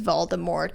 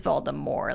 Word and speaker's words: Voldemort: how jk rowling says voldemort is voldemort like the t is silent and just everybody says it wrong and everybody just says it wrong but in the movie they say voldemort so that's not anybody's